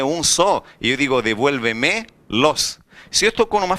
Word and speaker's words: devuélvemelo: que a palavra ficou devuélvemelo. A maior intensidade de voz não está na última sílaba, não está na penúltima, não está na antepenúltima, está antes da antepenúltima sílaba. Devuélvemelo.